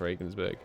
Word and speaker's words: Regensburg: pocket at Regensburg or Regan's burg revenants Ravens it's got G in it it's pronounced Regensburg i'll Regensburg it in